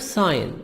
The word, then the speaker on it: sign: The verb sign, in the verb we make the G silent, but in the noun we say signature, a person's handwritten name. We make we pronounce the letter G.